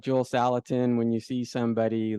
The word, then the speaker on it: Salatin: Salatin.